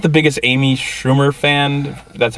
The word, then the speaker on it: Schumer: it just because I'm not the biggest Amy Schumer fan that's how you pronounce it I I like her show inside